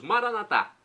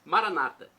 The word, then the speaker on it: Maranata: Agora eu clamo do aramaico dialeto de Jesus, Maranatá, que significa vinde Senhor Jesus, ou como dizem nossos irmãos separados, os evangélicos ou protestantes, Maranata, com a tônica na penúltima sílaba. Os católicos colocam a tônica na última.